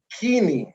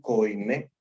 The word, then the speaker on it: koiné: los hispanos quisimos decir koiné, y que cuando decimos koiné dice que los griegos hasta que les estallan los tímpanos, ¿no? Dice que no se dice koiné, se dice griego kini.